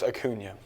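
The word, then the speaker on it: Acuña: Yeah, there's an accent on the Yeah, it's No, you don't got to over It's Akuna, not Akuna.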